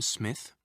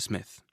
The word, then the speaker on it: Smith: Did you notice the Japanese pronunciation of the name Smith? Smith. Japanese doesn't normally allow for double consonants like SM, sm. You usually need to put a vowel between them. Also, Japanese doesn't have a th sound.